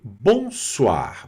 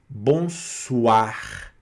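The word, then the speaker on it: bonsoir: também onde nós temos uma pronúncia eh interessante que é diferente para nós brasileiros, que é o o mais ira waa. Tá? Então é bomar. Bonsoar. Tá? Então esse o mais i vai ser wa bonsoar. Mais uma vez também pronunciando o r aqui no final, tá certo?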